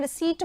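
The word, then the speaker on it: receipt: पहले ए चुका है रिसिप्ट बोलते हैं इसको पीस साइलेंट रहता है अगले वाले क्वेश्चन पे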